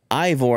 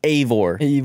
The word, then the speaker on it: Eivor: Well, I don't know how they spell it, how she spells it, but she was calling it Ivor. I was like, "No, it's Eivor. It's Eivor."